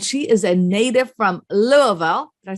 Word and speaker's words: Louisville: wiseburg realtors and she is a native from louisville did i say it right yes she did